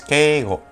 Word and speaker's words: Keigo: lo hemos visto antes son dos kanji esto es okay Y esto es Go esto es Ke go de acuerdo Ke Go keego y es lenguaje honorífico